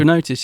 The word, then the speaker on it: Chronotis: Chronotis, yeah.